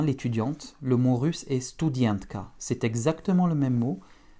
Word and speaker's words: студентка: Donc comme tout à l'heure, le U ne change pas et le A en finale va se prononcer presque comme un petit E. Это студентка. Studientka. Еще раз. Studientka.